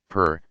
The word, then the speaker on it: pir: or its Persian equivalent, pir, pronounced pir.